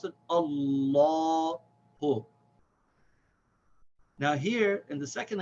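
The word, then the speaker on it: اللهُ: So we say Allahu. And we should also remember that the name of Allah is pronounced with a full long vowel. So we don't say Allahu, we say Allahu.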